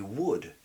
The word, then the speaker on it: would: Et bien sûr le L qu'on veut prononcer alors que non, pas du tout. Donc, pour le dire correctement, I could, I should, I would. I could, I should, I would. Il n'y a pas de L du tout.